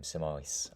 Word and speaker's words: Simois: Um Simois, I suppose is how we might pronounce that.